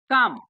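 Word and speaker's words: calm: क्या पढ़ेंगे इसको काम हेयर एल जो है ये जो एल है य एल साइलेंट है एल साइलेंट है ठीक ना इसीलिए यहां पर वर्ड भी लिखे हैं हम साइलेंट ठीक है ना बात समझ ग ना ये जो एल होता है वो साइलेंट होता है ठीक है ना जैसे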